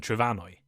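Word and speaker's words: Trefynwy: a few centuries ago the m in Welsh somehow changed to an F pronounced like a V making the modern Welsh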